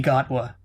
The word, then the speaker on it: Gatwa: never would have guessed while gatwa is simply gotwa oh well i got